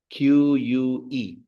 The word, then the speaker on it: que: This is how you say que. Q-U-E. You don't pronounce the U. So you in that case, that would turn into que.